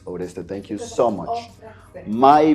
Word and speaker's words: Oreste: he told me oresto some people call me areste so it's either how people want to call you sometimes but but yeah the pronunciation you are doing perfectly is auresta thank you so much